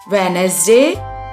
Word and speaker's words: Wednesday: Wednesday, 4.